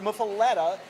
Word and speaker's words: muffuletta: is um but but muffuletta is the way you would pronounce it's the way you pronounce again and that's an